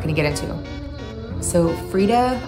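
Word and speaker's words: Freida: to get into so Freda I think is how you say her name mcfaden is one of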